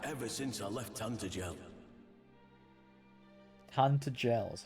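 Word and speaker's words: Tantegel: Tantagel is how it's pronounced.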